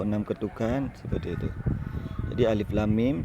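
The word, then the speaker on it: الم: ketukan seperti itu jadi alif.lam.mim cara bacanya Jangan dibaca alamat itu bukan baris itu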